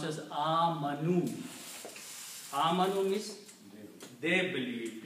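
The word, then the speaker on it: آمنوا: which is not recited so the word is pronounced as a Manu means they believe it's a plural so here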